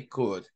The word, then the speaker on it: could: shall not should could the L is silent again we say could W the L is